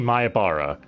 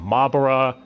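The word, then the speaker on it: Miyahara: main castles we have our main man keichi mayabara or as several people on the cast list keep getting his name wrong calling him mybara like they can't pick a pronunciation for his name and that's the theme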